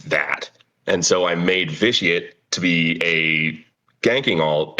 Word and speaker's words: Viciate: And Viciate, so hopefully I'm pronouncing your name correctly.